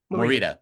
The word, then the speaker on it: Morita: reason uh Pat was what how do you pronounce his last name Ryan Pat Mor Morita Morita Pat Morita Morita he was nominated for an